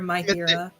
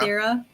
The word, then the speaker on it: Mathira: Is that how you say it? Mathira or Mythira? Mithira. Mathira. Haha! I got it the first time. I second guessed myself and I was wrong.